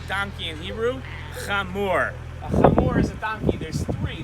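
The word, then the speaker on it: חמור: now how do you say donkey in hebrew come more is a donkey there's three there's two brown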